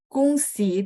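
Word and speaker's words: 公司: Oh, kungsi itu dibaca, ya O-nya sedikit agak U, Ibu Yuliana ya. Jadi kungsi, kungsi, kung, ya sedikit O-nya itu bunyi U ya. Benar-benar Bu. Jadi bacanya G baca K, terus O-nya bunyi U ya, kungsi.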